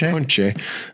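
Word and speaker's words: ponche: So if you get a punche, which is how you say punch tire in Spanish, punche, you're screwed.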